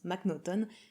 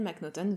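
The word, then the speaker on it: M'Naghten: qui s'appelle Daniel mcnuton alors ça sécrit comme ça mais semble-t-il ça se prononce mcnuton va assassiner un autre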